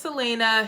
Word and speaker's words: Celaena: The Throne of Glass series follows Selena. See, I don't even remember how to pronounce her name. That's Selena.